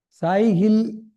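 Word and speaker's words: Tsai: SIL criteria is used. Failure criteria. What is the failure criteria? The SIL. This is SIL criteria. This T is silent.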